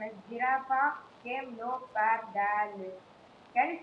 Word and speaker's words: camelopardalis: Sir came low past the list.